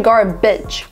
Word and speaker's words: garbage: But I know where this mispronunciation is coming from, because it's written B-A-G-E, beige, right? But it's actually garbage.